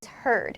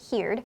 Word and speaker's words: heard: The pronunciation is heard, not heed.